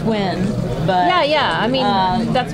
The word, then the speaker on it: Nguyen: When I see that name, it's pronounced Win.